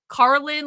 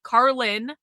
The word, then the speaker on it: Karlyn: Carlin like George Carlin except spelled way different. Carlin. Carlin.